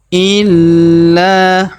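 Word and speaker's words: إِلَّا: biidtihim Ma yaamuhum maamum illa huruf la kita tahan dan tekan karena terdapat tanda tasdid di atasnya kemudian kita panjangkan dua harakat karena terdapat Alif di depannya ya Ail huruf Li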